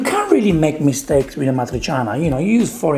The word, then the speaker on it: amatriciana: make was pasta amatriciana i understand you can't pronounce it it's amatriciana i know it can be difficult you can say matriceana but ah matri chana if you want to